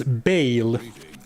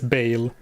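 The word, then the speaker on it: Baal: It is Bale. And if you have a problem with how I pronounce Bale, take it up with the game. Every NPC in the game says Bale. Get out of here with that Bal crap.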